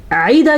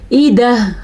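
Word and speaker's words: والأفئدة: والافئدہ, عیدہ کیا تو غلط ہو گیا, ایدہ حمزہ ہے تو حمزہ ہی پڑھنا ہے.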